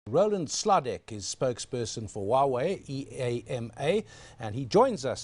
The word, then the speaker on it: Huawei: in my consciousness because I pronounced it wrongly before I joined you there I said we way and it's Huawei and I've heard that